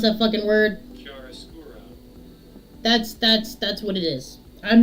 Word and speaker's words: chiaroscuro: So for those of you who want to know how to pronounce that fucking word, Chiaroscuro.